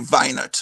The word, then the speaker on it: Weinert: Well, of course, German names are never pronounced in the United States in the same way as it would be pronounced. It should be Weinert, which would be far cooler.